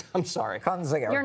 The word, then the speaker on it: Kinzinger: you bring Liz Cheney out there, the Adam Kinzinger's of the world. Oh, God. Is he going to cry? Is he going to cry if she doesn't win? If she's depending on Cheney and Kinzinger, I think this thing's, what's his name?